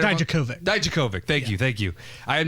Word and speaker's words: Dijakovic: Bobby Fish, Kyle O'Reilly, and Roderick Strong versus Tommaso Ciampa, Keith Lee, Dominic Djokovic, and Did I get that right? Dijakovic.